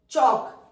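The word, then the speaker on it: chalk: sound आ रही है fall चौक एल तो हमारा साइलेंट है यहां च च के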